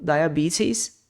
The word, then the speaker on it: diabetes: ou no inglês britânico esse T pode ter som de T mesmo diabetes ou um som de R diabetes cancer can cancer asma